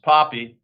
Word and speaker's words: Pape: Sarah Pape, pronounced Poppy.